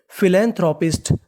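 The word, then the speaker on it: philanthropist: बनी stub audio जीी पी एच आई फी एल ए ले फिले एन है हमारा फिलेन टी एच आर O throw इसे क्या पढ़ेंगे throw फिलैंथरोप पी आई एस टी पिस्ट तो मीनिंग बनी फिलैंथरोपिस्ट फिलैंथरोपिस्ट फिलैंथरोपिस्ट फिलैंथरोपिस्ट का मतलब होता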